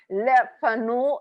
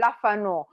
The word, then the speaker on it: Le Fanu: know french i'm sorry but le fanu it's the pronunciation i changed a little bit and say lafano because i want to